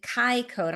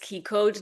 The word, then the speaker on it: Ki-CODE: she has a unique modality that she calls Kai code. Am I hopefully I'm pronouncing it right? She'll let us know if I Is that right, Alice? K. It's pronounced key code design because keyi is the actually Japanese word for chi.